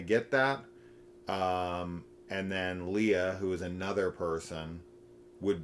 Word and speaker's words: Leah: L E A H. How's that said? Leah. Leah.